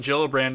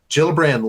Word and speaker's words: Gillibrand: Is it Gillibrand or Gillibrand? I think it's a soft G. I think it's Gillibrand. Gillibrand leads a lot stronger